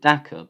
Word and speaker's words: Dakar: I think they pronounce it Daka, but it's spelled Dakar.